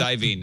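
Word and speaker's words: Iovine: his name is it I I IV it's iven I I only know that because uh I've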